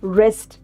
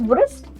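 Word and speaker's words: wrist: सो, रेस्ट, नॉट वृष्ट। डू we pronounce it एस वस्ट। नो। डब्लू is silent. We से रिस्ट यस।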